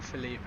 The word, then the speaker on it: Felipe: Oh, it's not Felipe. I've just seen his message. It's pronounced Philip. It's just written Felipe in Portuguese, I think he said.